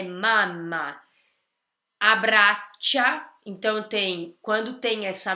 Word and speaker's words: mamma: La mamma, já dá pra ver que esse A é bem aberto, não é mama, é mamma.